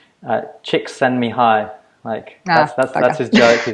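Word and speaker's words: Csikszentmihalyi: on good authority that we say his name chicks send me hi Mike yes that's Joey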